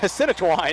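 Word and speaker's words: Senachwine: Sinachwine, yeah.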